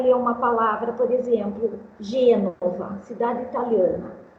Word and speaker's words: Gênova: Então, uma criança, ela vai ler uma palavra, por exemplo, Gênova, cidade italiana. Ela lê Genova, apesar do acento circunflexo na primeira sílaba.